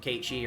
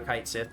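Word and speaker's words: Cait Sith: to fight them solo as Ki or kite Sith depending on how you want to pronounce it um and it just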